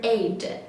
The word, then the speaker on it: eight: this number is number eight eight eight eight eight eight eight okay GH we didn't pronounce it okay it's a silent letter we didn't pronounce it